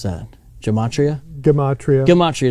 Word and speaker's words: Gematria: Gematria. Gematria, it's a harder G.